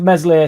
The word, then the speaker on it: Meslier: With Meslier, Silent S on the way out, potentially to Fenerbahce, does that mean there's a new keeper coming in?